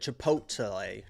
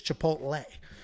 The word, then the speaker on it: Chipotle: And you said Chipotle. Chipotle. What' you say? I say chipotle. There's no L in my world.